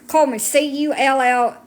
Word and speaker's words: Cullman: Coleman, Cullman. I know my accent makes it sound like I'm saying coal.